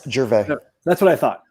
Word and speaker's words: Gervais: No S, Gervais.